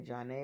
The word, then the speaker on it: Janet: I mean, my name is spelled like Janet, my government name. And so trying to force everybody to say John A all the time was a little rough.